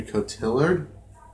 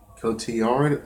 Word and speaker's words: Cotillard: Brad Pitt and uh Marion cottilard Cotillard anything that's how you pronounce it oh it wasn't